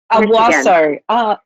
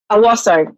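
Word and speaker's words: Owosso: Now, Mary, how do you pronounce where you're from? Owasso. Owasso. Owasso.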